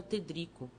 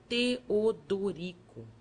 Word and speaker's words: Teodorico: o padre triste perguntou meu nome que eu pronunciava ter Drico o outro amorável mostrando os dentes frescos aconselho homem que separar sílabas e dissesse Teodorico e depois acharam e